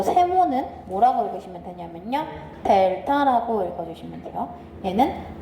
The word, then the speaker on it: 델타: y의 증분 이거를 기호로 뭐라고 나타낸다?요 요 세모는 뭐라고 읽으시면 되냐면요. 델타라고 읽어 주시면 돼요. 얘는 델타라고 읽어 주시면 되고요.